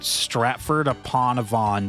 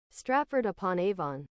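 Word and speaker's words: Stratford-upon-Avon: Stratford Aonavon, dude. Aonavon. I don't know how to pronounce that and I never will.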